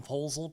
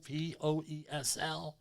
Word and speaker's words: Poesl: Safety Wars, Poesel, Poesl. Not the other way, please. Easy to remember, all right? Poesl, but how do you say it? My favorite word is proposal.